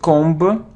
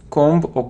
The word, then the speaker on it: comb: ancient so it isn't combo combo cone it's comb oh and without beef don't pronounce be comb comb it isn't plumber' hello lumber